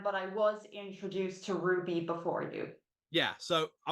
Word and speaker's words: RWBY: Yeah, what we're talking about is called Ruby, or as it's spelled RW. Yeah, it was spelled RWBY, right?